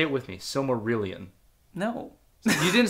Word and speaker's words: Silmarillion: The Similarian.